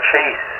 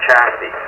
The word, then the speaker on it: Chassé: Well, you know, it's funny because a lot of people would call her Chase, because the Chase name around here is kind of more popular, and she would get kind of upset, but she pronounces it Chassie, but yeah, so it